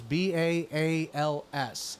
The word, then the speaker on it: Baal: Commandments of the Lord and Then followed after Bales now I want to pause I'm going to pronounce this Bales b a a LS it is Bal it is Bal that is